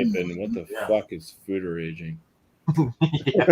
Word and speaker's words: foeder: Those are fooders. Something like that. Simply put, a fooder is a large barrel. Fooder, pronounced food-er, is the Dutch word for a large oak tank where beer is fermented.